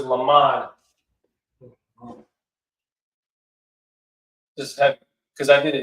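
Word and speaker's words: למד: And the pronunciation of the word in Hebrew is lamad.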